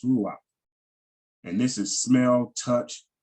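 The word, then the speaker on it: רוּחַ: But it's pronounced ruach, and we see that's reach. By the way, they got a vowel pointed, but it's pronounced ruach.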